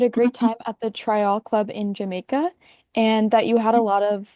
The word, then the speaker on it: Tryall: that you pronounced it Tryall, because that's how the Jamaicans pronounce it. In the in the way the locals explained it to me, they said, "Americans say Tryall." But, locally, they say Tryall.